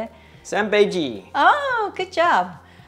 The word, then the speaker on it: 三杯鸡: 三杯鸡. Oh, good job. 三杯鸡.